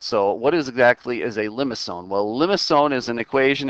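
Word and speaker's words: limaçon: All right, so this graph that we just saw there is actually what's called a limacon. That C is pronounced as an S, actually.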